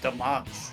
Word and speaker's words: Damas: It's pronounced Damas. Let us continue.